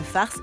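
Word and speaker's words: farz: confiture de lait le farce est prêt pour notre repas alors ce fameux Fars Fars j'ai comp on le prononce comme ça farce c'est le farce à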